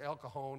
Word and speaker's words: El Cajon: I said, I'm going to El Cajon and San Jose. She said, out here we pronounce that J like an H. It's El Cajon and San Jose.